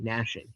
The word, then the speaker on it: gnashing: In that place, there will be weeping and gnashing of teeth. So unrepentance from those found in hell. Silent G nashing. No, I'm I'm hard ging that one.